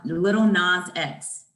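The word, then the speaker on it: Lil Nas X: little nausea yes little is it nas or not you say nas oh what do you say how do you say it n-a-s no it's it it's um little nas x oh listen i would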